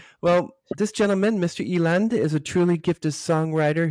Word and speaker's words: Eland: So as you notice by his name is Karl Eland? That's right, yeah. That's right. That's the right pronunciation. Got it correct? No. Yeah, a lot of people say Eland, but you've got it right.